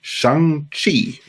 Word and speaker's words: Shang-Chi: A few days ago, we got a director announcement for another in-development Marvel movie, namely Shang-Chi, or however it is pronounced. No, it's Shang-Chi, that's right.